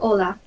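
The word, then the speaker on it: Hola: H in silence. Yes. Got it. Just like Ola.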